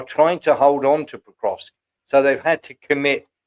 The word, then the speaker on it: Pokrovsk: Pokrovsk, is it? Oh, Pokrovsk.